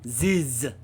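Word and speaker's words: Xiz: Now to find Lord Ziz. I assume that's how it's pronounced. It's X-I-Z. Ziz. Or X. I'm just gonna go with Ziz. So yeah, lots of Naga around.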